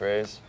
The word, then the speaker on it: RVZE: But yeah, Ray just means to destroy and we spell it RV Ze.